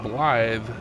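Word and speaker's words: Blaidd: is spelled BL l a i DD and pronouncing it blly is a wel pronunciation of d d and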